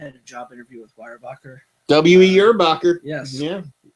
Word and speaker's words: Weyerbacher: I had a job interview with Weyerbacher. W.E. Yerbacher. Yes. Yeah. Or I believe my GPS pronounced it. I think Weyerbicker or Weyerbicher.